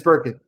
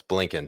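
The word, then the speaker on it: Blinken: suck China's dick no not Tony Burkin his one his uh Secretary of State Burkin nink it's Burkin well how do you say it it's blinkin Tony blinkin okay Tony blinket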